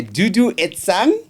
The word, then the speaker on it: Duduetsang: My word, ladies and gentlemen, we are joined today by Duduan.